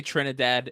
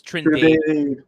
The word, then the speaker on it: Trindade: I knew you were gonna say Trinidad. It's Trindade. Trindade. And there's no A, so it's just Trindade. Yeah, saw that coming a mile away. I saw that. mean, it's spelled like Trinidad.